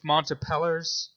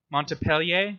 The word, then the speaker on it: Montpellier: um in the University of Montebello Montpellier sorry is that how you pronounce it yeah multiple yeah yeah